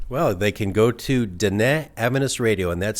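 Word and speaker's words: Diné: Well, they can go to Da Avenous Radio and that's spelled I'm have to spell it for you because it doesn't sound like it looks.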